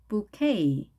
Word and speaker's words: bouquet: 프랑스어이기 때문에 T 발음을 하지 않습니다. bouquet.